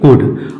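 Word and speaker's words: could: इसको हम क्या पढ़ेंगे कुड और आगे उड काफ टीसी तो फ्रेंड्स यदि एल के बाद डी के एफ एम आता है तो एल हमेशा साइलेंट होता है जैसा कि हम लोग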